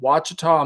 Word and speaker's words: Ouachita: channel, which is called Ouachita Mule School. Um, spelled I think it starts with an O A. It's not spelled with a W, but Yeah.